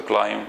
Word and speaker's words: climb: I'm going to climb. ولا will climb. البي لا تنطق.